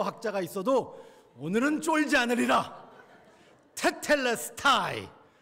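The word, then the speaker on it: τετέλεσται: 다 이루었다 저는이 말을 너무 좋아합니다 다 이루었다 테텔레스타이 헬라 테텔레스타이 제가 이거 오늘은 발음 잘하려고 열심히 연습했어요 테텔레스타이 아무리 헬라어 학자가 있어도 오늘은 쫄지 않으리라 테텔레스타이 한 단어 한국어가 참 번역을 잘했어요 예수님이 완성하신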